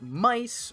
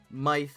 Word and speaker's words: MY-TH: It's Thomas Jujube and it's time to talk about Kamen Rider Mice or Myth as it's spelled, but it's actually officially pronounced Mice.